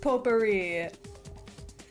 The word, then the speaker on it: potpourri: It's pronounced potpourri.